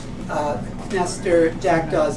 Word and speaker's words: Knestor: uh Master Jack Dawes that's a silent k as in pumpkinster Jack Dawes is a